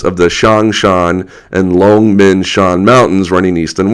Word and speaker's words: Longmen: the pictures of uh long men uh long men means uh Dragon's Gate long um second tone Rising tone long men I'm probably saying it